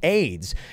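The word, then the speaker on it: Ayds: what came for AIDS the company was a yd s pronounce AIDS and so they actually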